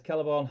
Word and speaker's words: Celeborn: Nick Garner says Celeborn hard C.